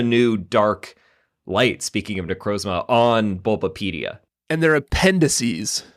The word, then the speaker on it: Necrozma: How do you pronounce this thing? Necrozma. Oh, we've been saying it right. Necrozma.